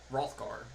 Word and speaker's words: Hrothgar: Madison we're going to Hrothgar with the small little cottage there you guys will make it you guys will travel all over the road rid of that village the H is silent play Skyrim and you